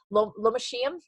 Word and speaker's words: Lomatium: Lomatium is how you pronounce that.